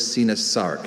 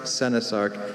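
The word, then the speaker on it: coenosarc: I'm sorry, this last syllable is Sinasarc. It's Sinasarc, Senasarc, and Sinosarc. Okay, could you repeat those pronunciations one more time?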